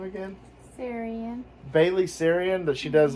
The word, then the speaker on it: Sarian: Sarian.